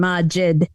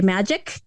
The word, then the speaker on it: Majid: Arab speaking Nations that their name is Majid but it's hard to hear that D sound at the end Majid so people say magic and eventually they changed